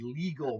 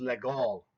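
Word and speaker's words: Légal: called the you know an American would say that's the legal mate well actually legal is not the correct way to pronounce it that was a French man's name his name was legal so this is known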